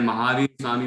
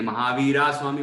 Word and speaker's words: महावीर: बाकी आपने महावीर स्वामी बोला तो मैंने कुछ टोका नहीं, क्योंकि उच्चारण तो सही ही है। बाकी यदि महावीर स्वामी इस तरह बोले, महावीरा स्वामी बोल रहे थे कोई, महावीर है ना, महावीर